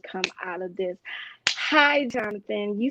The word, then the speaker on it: Jonathan: college teacher told me, she said Nathan. And I was like, no, it's Jonathan. Well, it's spelled Nathan. I said, no, ma'am, it's Jonathan.